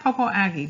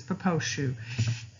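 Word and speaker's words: Popo Agie: It looks like Popo-Aggie, but it's a Crow word, and this is how they pronounce it, is Poposhu.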